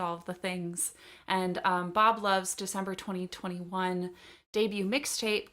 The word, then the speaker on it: BXB Love: by an artist called Bob Love. That's BXB, pronounced like Bob the Builder, she says on all of her social media.